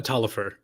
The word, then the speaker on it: Taliaferro: Is that how you say his name? Talifer. I don't know how you Taliaferro. get that pronunciation from the spelling.